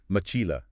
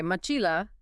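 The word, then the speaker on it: mochila: I'd call out MOA definitely stressing Chi there perfect you found the stress syllable again all right and this time because that stressed syllable is the second to last syllable and moila ends in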